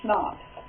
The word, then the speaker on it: CHNOPS: Sometimes to help students remember this, I tell them to remember it like this, CHNOPS. If you do it that way, you can pronounce it schnapps.